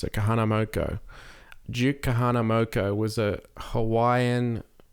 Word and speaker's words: Kahanamoku: So there is a here his name is Kahanamoku. Kahanamoku. I hope that's how you pronounce it. Kahanamoku.